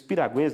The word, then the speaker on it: piragua: muito bem e os piraguas na verdade que é a piragua é a a pronúncia correta eles são essa expressão